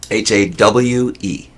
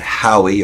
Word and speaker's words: Hawe: How do you spell it? Hawe. Hawe. Okay. I think And it's not how. It's not Howie or It's- Hawe. Ha.